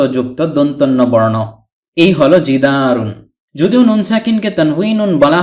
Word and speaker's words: جِدَارٌ: প্রদান করে থাকে ফলে জিদারুন এর অর্থ দাঁড়ায় একটি দেয়াল অনেক সময় আমরা জিদার বলে থেমে যাই শুধু জিদার উচ্চারণ করে মুখস্ত করে থাকি অর্থাৎ ওয়াকফ করে ফেলি মানে শেষের তানভীনুনটি উচ্চারণ করি না আশা করি এখন থেকে